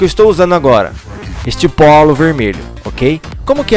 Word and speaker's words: polo: A pronúncia da letra O é O, O, tanto na primeira sílaba, PO, como na segunda sílaba, LO, POLO, POLO.